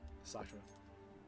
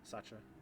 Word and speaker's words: Sacha: Is it like Sasha with a CH? Sacha. Sacha.